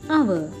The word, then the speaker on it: hour: An honest boy, an hour. First letter H is a silent letter.